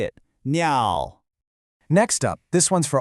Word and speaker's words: 鸟: the word for bird, 鸟. That's pronounced 鸟. Hey, listen to that tone. It's that same dip and rise one we heard with the word for dog, go. Hear it?